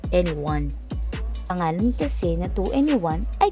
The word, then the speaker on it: 2NE1: Ang pronunciation nito sa South Korea sounds like N1.